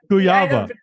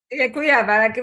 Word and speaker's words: Kujawa: So I don't even Kujawa. Kujawa, because Good. It is, it's different language, spells differently.